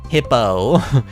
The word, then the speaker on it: Hippeux: Hippo, he likes Hippo, which is spelled Hippeux.